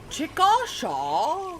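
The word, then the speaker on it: Chickasha: Although I'm from Oklahoma, so I really have no room to talk because we have places called Chicochet, which are which if you pronounce it like phonetically, it's Chikasha.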